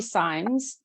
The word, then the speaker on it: Symes: It is Symes, and Nicole, it's okay, it's Sims, and it's funny, it's one of those names that's actually pronounced both ways, so it's no fault to you.